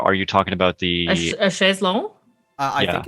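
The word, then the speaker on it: chaise longue: was doing mine yeah it's it's actually a chez long yeah except it's the english version of the chez launch because when you say it in french it's like a pool side chair by the way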